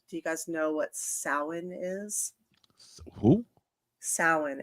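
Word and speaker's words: Samhain: you familiar with do you guys know what sin is who sin it's it's spelled s m ha Ai and Sam Hayne which is how a lot of people pronounce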